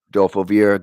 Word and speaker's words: Adolfo Vieira: Adolfo Vieira getting interviewed by DC.